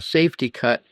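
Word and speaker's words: Safety-Kut: that's called easy or a safety cut spelled with a K.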